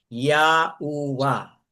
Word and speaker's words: Yahuwa: Na kung ating bibigkasin po yan, Yahuwa.